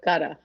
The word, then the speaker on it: Gutta: Straight facts with Gutta, Yes, ma'am. not Gouda.